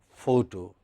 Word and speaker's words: photo: So, let us for instance look at this word photo or photograph. It has stress on the first syllable, pho.